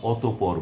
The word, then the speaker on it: অতঃপর: যদি শব্দের বা পদের মধ্যে বিসর্গ থাকে তাহলে বাংলা উচ্চারণে বিসর্গ পরবর্তী ব্যঞ্জন বর্ণটির উচ্চারণ দুবার হবে।